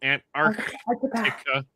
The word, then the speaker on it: Antarctica: I love Got to pronounce that C right in the middle. Antarctica.